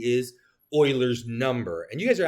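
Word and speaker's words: Euler: I know it looks like Uler, but it's it's Oil. It's pronounced Oiler.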